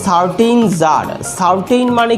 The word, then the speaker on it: tsar: টু a certain jar, certain মানে কি? কোনো এক। সার্টেইন মানে কি বললাম? কোনো এক। ওটা জার হবে, TSAR, টি এর উচ্চারণটা উজ্জ থাকবে, অর্থাৎ জার, SAR জার, তো টি এর উচ্চারণটা উজ্জ।